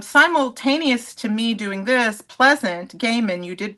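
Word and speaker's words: Pleasant Gehman: bands and um simultaneous to me doing this Pleasant Gaiman, you did pronounce her name correctly.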